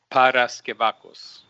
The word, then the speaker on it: Paraskevakos: least has heard it correctly no problem it's Paras kakos and and is it fine with you if